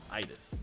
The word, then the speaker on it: Idas: And yes, by the way, if you're wondering how to pronounce it, just think Midas without the M. Idis.